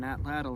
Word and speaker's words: atlatl: to throw on an atlatl and hunt with. I was recently told that the correct way to pronounce atlatl is atlat.